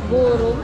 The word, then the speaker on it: Gureum: Paano sa pa-pronounce ba? Gur ma'am. Gur maam. Gurum.